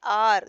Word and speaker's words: hour: It is pronounced as R. Though H is there, it is pronounced R.